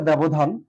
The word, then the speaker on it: ব্যবধান: ব্যবধান এই শব্দটি ঠিক এমনটাই, একই রকম ব্যবহার আছে ব্যবধান। ধান, ব্যবধান, এভাবে আমরা লিখতে পারি উচ্চারণ।